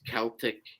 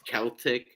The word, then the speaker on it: Celtic: say this uh it it's pronounced Celtic it's not something it's Celtic I don't know where